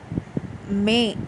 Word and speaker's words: mais: இதை ஃப்ரெஞ்சில் மே அப்படின்னு தான் ப்ரொனவுன்ஸ் பண்ணணும்.